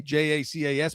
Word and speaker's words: Gabe Jacas: They got edge in Gabe Jacas out of Illinois, and it's with a J, Jacas, but it's pronounced Jacas, Gabe Jacas.